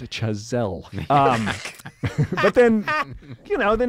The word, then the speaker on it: Chazelle: It's pronounced Chazelle.